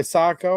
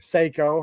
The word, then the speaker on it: Sako: Like M39 Mosins and I know at least a couple of them are made by Sako or Saiko, however you want to pronounce it.